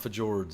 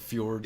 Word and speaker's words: fjords: like the fjords. It's not fjords. It's the fjords.